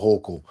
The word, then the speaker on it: Hochul: You're not saying it right. It's Kathy Jokul Hochul.